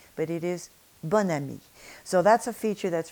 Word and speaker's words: bon ami: You would think it would be bon ami, but it is bonne amie.